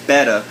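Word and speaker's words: betta: That's how it's said, not beta, guys. It's beta.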